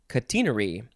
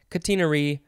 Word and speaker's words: catenary: It looks like the British say catenary, because of course they do. Catenary or catenary.